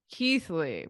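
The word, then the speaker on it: Keighley: see the th there but how would I imagine that there's a silent th in this word like I just would not know unless a native speaker tells me and again students this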